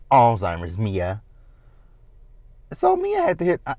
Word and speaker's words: Alzheimer's: Do you have Alzheimer's? And Mia was like, wait a minute, that ain't cool. Now, Mia can't pronounce Alzheimer's.